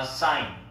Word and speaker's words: sign: 야, 이거 발음 어떻게 될까? Sign이에요. It is a sign.